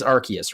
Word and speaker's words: Arceus: It is Arceus, right? Yes, it's Arceus. You also missed the pronunciation Arceus, which I have heard in some reviews as well.